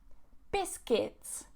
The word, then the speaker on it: biscuits: This one, biscuits, biscuits, biscuits. Not biscuit. I hear this a lot.